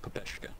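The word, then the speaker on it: ППШ: Yeah, the way you pronounce it, if you're, like, saying its actual name, what it stands for, it's pronounced Pepeshka 41, like, if you're saying it in Russian.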